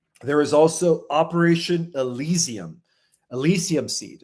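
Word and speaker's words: Elysium: Elisium seed. That's spelled E L Y S IU M. Elisium, like the Elisium fields, right, of ancient Greece, the Elisian secret societies.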